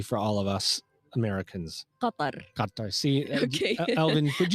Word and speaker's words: Qatar: Talk to me a little bit about Qatar. All right, because how do you say it in Arabic properly for all of us Americans? Qatar.